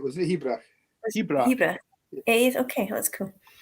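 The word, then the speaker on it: Hearach: How do you pronounce it? I think you were right. Was it Hebrak? Hebrak.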